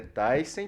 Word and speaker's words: Thyssen: Thyssen, que na verdade é Thyssen, porque é um sobrenome alemão, mas todo mundo já chama ele de Belvoir Thyssen.